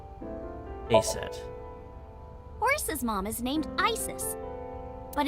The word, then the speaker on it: Isis: Horus's mom is named Isis, but in ancient Egyptian, it's pronounced closer to Isa or Aset.